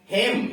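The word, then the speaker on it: hymn: हेम YHY यम यन, यम के बाद यन आया है तो नो साइलेंट है।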